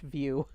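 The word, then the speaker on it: Vue: to the PlayStation boo app and apparently it's pronounced view we've we've been pronouncing it wrong way station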